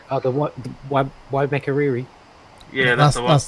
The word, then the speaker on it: Waimakariri: Oh, the Waimakariri. Yeah, that's the one. That's the kiddie. Yeah, Or if you were going to say it like the Maoris did, Waimakariri.